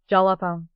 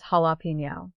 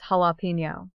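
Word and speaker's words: jalapeño: eyes, and proudly says, "Jalapo." Guys, I literally cry laughing every time. The correct pronunciation is jalapeno. In Spanish, the J makes an H sound and the N with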